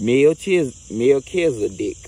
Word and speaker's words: Melchizedek: Melchizedek, pronounced Melchizedek, is a high priest who is mentioned in the Bible's book of Genesis and many other sources too.